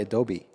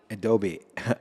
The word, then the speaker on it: adobe: Oh, but it's actually Adobe. Adobe. I've been pronouncing it wrong the whole time.